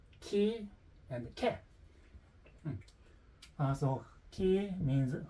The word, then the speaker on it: chi: A point in caution is that in Italian, the series of letter C and H is pronounced K when followed by E or A. Ki and ke.